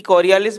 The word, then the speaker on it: Coriolis: तो बेटा सबसे पहले तो हमें समझना होगा कि कॉरियालिस जो एक बल है, इसको अपन एक्चुअल में शाब्दिक रूप से अलग अलग रूप से इसको प्रोनाउंशिएट करते हैं। कॉरियोलिस है इसका सही प्रोनाउंसिएशन, कॉरियोलिस। क्या है बेटा, कॉरियोलिस।